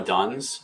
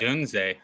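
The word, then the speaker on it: Odunze: Yeah, what if we take Roma Duns and then we just queue up taking Caleb Williams later Duns?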